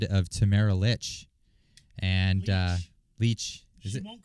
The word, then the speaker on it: Lich: line The Ballad of Tamara Lich and uh leech it won't correct you because she she didn't correct me either oh am I pronouncing it wrong it's leech it's Lee it's okay I've been saying it